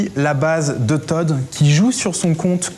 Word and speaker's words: ToD: Fnatic Todu. Voilà. C'est dur parce qu'il n'y a qu'une seule syllabe en fait.